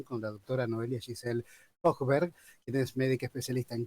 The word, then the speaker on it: Hojberg: La J es como, ahí hay que marcarla bien. Hochberg, así es.